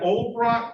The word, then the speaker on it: Olbrot: Is that Olbrot? Did I pronounce the last name right? O-L-B-R-O-T, Olbrot.